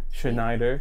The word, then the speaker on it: Chenayder: you I'm good I said it right right shider yes okay yeah you get does does it